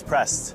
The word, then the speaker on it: prest: The word for a priest in Norwegian is prest.